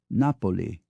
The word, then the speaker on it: Napoli: names the locals use in Italian it's not Florence but Fen not Naples but Napoli not Padua but Padova not Venice but Venia not Milan but Milano not Genoa but Genova to the Danes it's